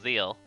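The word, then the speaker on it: Zexal: It's spelled Zexel, but I think it's pronounced Zeal.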